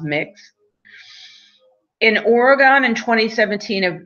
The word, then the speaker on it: Mx: MX is pronounced mix.